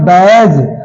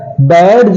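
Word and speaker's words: badge: okay अगला देखते हैं बैज बडज नहीं बोलते इसे हम बडज नहीं बोलते बल्कि इसे हम बैज बोलते हैं बैज बोलते हैं अगला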